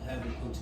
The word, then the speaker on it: Habakkuk: Okay, and that's how you pronounce Habakkuk's name is Habakkuk.